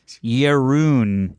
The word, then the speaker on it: Jeroen: It's pronounced Jeroen. Jeroen? Jeroen from the Netherlands.